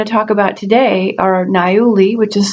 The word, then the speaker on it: niaouli: oils I want to talk about today are nayuli which is spelled n-i-a-o-u-l-i it's also um given the acronym